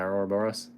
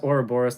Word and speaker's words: Ouroboros: I'm still proud of my Ouroboros.